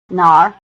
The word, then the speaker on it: 哪儿: 这个，这个，这个， It may be helpful to remember that the answers 这个 this, 这儿 here, 那个 that, and 那儿 there are all in the falling tone, while the questions 哪个 which and 哪儿 where are both in the low tone.